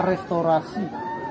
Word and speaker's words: Restauratie: Di situ ada tulisan Restauratie. Itu bacanya restorasi, itu bahasa Belanda, yang artinya candi ini ternyata sudah diperbaiki oleh pemerintah Belanda tahun 1932 sebelum kemerdekaan.